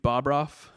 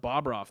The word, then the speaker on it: Bobroff: And it was always pronounced Bobroff. That's just how I grew up. I was Bobroff. But everybody pronounces it Bobroff.